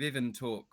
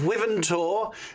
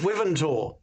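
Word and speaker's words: Wyvern Tor: Last time we were going to see the wars of Ivantalk or something. Oh, Ipsy, you and your mispronunciations. It's the Orcs of Wiventor.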